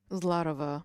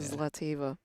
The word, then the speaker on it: Zlateva: Now, Ada, she's the correct pronunciation is Latova, correct? Zlatova, correct, Yeah. but she Americanized it to Yeah. Zlateva.